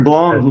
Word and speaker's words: Blom: I say your last name correctly yes sir blong you got it as someone whose last name is mispronounced all the time I I want to